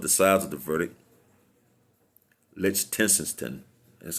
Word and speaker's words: Lichtenstein: Lichtenstein, that's how you pronounce his name, Nelson.